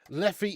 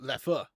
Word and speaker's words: Leffe: Leffy is pronounced with an sound, not Leffy, but Leffer.